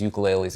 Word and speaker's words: ukulele: we pull out these ukuleles and play them it's pronounced ukulele and um I'm sorry if I say ukulele sometimes I'm from New York and my accent is offputting I get it okay